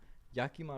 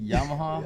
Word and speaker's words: Yakima: I know you guys are from Yakima, right? Yeah. We had like this whole conversation how to pronounce it. My boy Kiko is saying Yamaha.